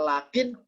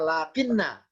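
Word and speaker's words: لكن: Jadi kalau sebelah kirinya ada isim, maka walakinna. Kalau sebelah kirinya ada fi'il, maka walakin. Ya, ini kaidah umumnya tentang lafadz ini, tentang lafadz lam, kaf, nun. Bacanya apa? Lam, kaf, dan nun bisa lakin, bisa lakinna. Tergantung kata berikutnya apa. Kalau isim, maka lakinna. Kalau sebelah kirinya ternyata fiil, maka lakin. Nunnya disukun.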